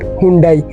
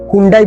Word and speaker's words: Hyundai: আর অনেকেরই প্রোনাউন্সিয়েশন নিয়ে কনফিউশন থাকে, অনেকে এটাকে হুন্ডাই বলে কিন্তু কোরিয়াতে এটাকে হুন্ডে বলা হয়।